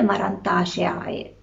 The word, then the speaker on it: Marantaceae: Si scrive Marantaceae, a della verità io dico delle Marantacee.